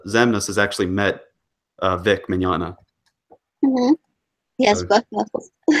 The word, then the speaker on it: Mignogna: It's Mignogna. It's like a spaghetti. Mignogna. Yeah. Lasagna. I thought it was he something met- more like Mignonia or something like that, not Mignogna.